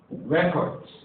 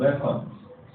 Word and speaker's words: record: So we have record and we have record. Now you see record, we have record. You can notice the stress change in the pronunciation.